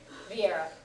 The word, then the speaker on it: Viera: Viera, the place in it, the V doesn't get fully pronounced in Japanese. Most people pronounce it more like a B.